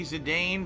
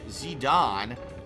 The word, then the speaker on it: Zidane: I don't know man today Bavaria said ok Zidane the we are pronouncing is a typical way most pronounced it the proper is Zidane as it was spoken through voice acting in